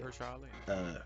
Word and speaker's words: Mahershala Ali: Um, God, I always mispronounce his name. Uh, Yeah, it, you got it right. it, Mahershala Ali.